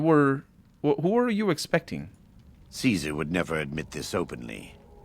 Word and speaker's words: Caesar: And I thought it was an interesting detail because obviously him being a follower of Caesar, he would say Kaiser in his vain attempt at pronouncing it properly in Latin.